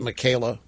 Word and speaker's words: Michaela: The women, Michael with an A on the end of it. You pronounce it Michaela. Well, anyway, Michaela Pereira spoke with Fareed Zakaria, GPS host, Fareed Zakaria, GPS, about the U.S.